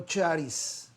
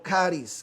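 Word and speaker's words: χάρις: Gracia viene del griego charis, o caris, como quiera pronunciarlo, que significa favor, una bendición, una bondad, un don inmerecido.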